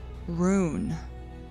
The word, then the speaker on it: rūn: memory related is R-U with an umlaut N, pronounced rune.